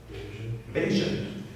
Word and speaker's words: Bayesian: that people say it have you heard any other pronunciation basan and I find that one useful if you're going to incorporate it into a song you needed two syllables so you can use the basian thing so you hear that